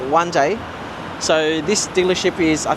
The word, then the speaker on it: Wan Chai: This is spelt Wan Chai, or in Chinese, Wan Jai.